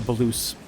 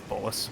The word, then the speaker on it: bolus: a the hey yo I was calling it a blues I don't know maybe the pronunciation's it's bolus but uh bolus is